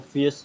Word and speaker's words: fears: I guess maybe it's a little tricky getting that R in there. Fears. So Z. So it'd be fear, no, ear. Okay. Ears. Oh yeah. And so that S turns into a Z too.